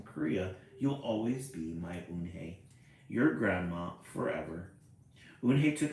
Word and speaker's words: Unhei: Yes, it's pronounced Unhei. Yunhei. And it means grace, Mr.